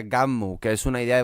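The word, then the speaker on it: Gunnm: ha sido después el título original era game se pronuncia gum que es una idea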